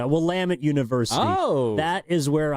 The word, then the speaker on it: Willamette: I don't know about great, but the above average, should we say, Willamette University.